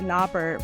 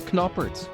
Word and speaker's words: Knoppert: sorry yeah yay yay I thought your last name was kner for the longest time with a silent k and then you said kner and I thought you were with me no it's kerer is that a Dutch